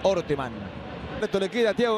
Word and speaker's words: Orteman: Aclaramos que se pronuncia Orteman.